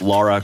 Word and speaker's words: Lara: I didn't say Laura Croft. It's pronounced Lara Croft, please.